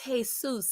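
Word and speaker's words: Jesús: That man looked at you like, "Ma'am, the actual pronunciation is Jesus and it's of Mexican origin.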